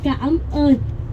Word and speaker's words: cảm ơn: But a little bit pronunciation going to say cảm ơn.